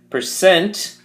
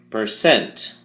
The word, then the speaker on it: percent: Percent has two syllables, and the emphasis or stress is on the second syllable, cent. So we say percent, percent.